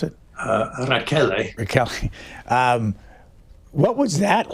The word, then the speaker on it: Rachele: Is it Rochelle? Is that the way you pronounce it? Rachele.